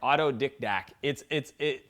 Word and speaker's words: autodidact: How to become what's called an autodidact. Yes, I said it right, autodidact.